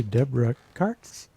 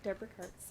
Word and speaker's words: Deborah Kartz: Peter Tam on piano and the lovely Deborah Kartz. Hi. Did I pronounce that? You pronounced it correctly. Deborah Kartz, yeah.